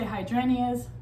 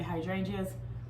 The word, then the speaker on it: hydrangeas: cares some people say hydranias some people say hydrangeas i say hydrangeas whichever one i'll look